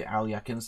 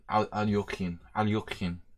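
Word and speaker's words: Alekhine: So things like the Alyakin's defense. I mean Alyokhin.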